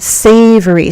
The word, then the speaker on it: savory: Mm- savory soup. Okay. So, say savory. Three syllables. The first one is stressed.